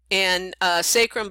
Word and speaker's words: sacrum: So 26 bones, 24 vertebrae, sacrum and coccyx. And sacrum, by the way, can also be pronounced sacrum, so any way you want to pronounce it, you're welcome to.